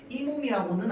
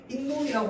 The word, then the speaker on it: 잇몸: 그래서 우리는 얘랑 몸을 합쳐서 발음할 때도 아 적을 때는 잇몸이라고 해. 왜? 사이 소리가 일단 들어가긴 했어. 우리 얘를이 몸이라고 말은 절대 안 하잖아. 그지? 이몸이라고는 안 해. 해. 인몸이라고 하는데 사이 소리가 들어갔으니까 사이 소리에 해당하는를 넣어 줬어.